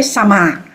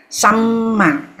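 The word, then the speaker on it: sammā: Remember, when you have the double syllable, we pause at the first one. Just like just now you say Tassa, Buddhassa, Samma. So the Samma, don't say Sama, Samma.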